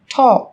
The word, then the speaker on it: talk: yellow, Một số từ sau đây sẽ có chữ cái L trong cách viết nhưng chúng ta không cần phát âm. Talk, talk, talk.